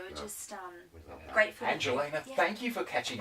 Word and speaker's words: Angelena: They always want to put an I. They want to do Angelina, but it's Angelena.